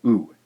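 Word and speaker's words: う: e all right our third syllable here is pronounced ooh who is romanized with a letter U in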